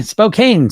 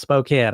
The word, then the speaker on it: Spokane: the old multiple cameras here what's up Betty Spokane Spokane Washington all right or is it Spokane I just got a lesson on this not long ago I was saying it wrong right so it's Spokane I believe I was quickly corrected I'm from